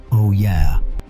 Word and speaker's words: olla: It is called an olla, pronounced oh yeah, and at its heart,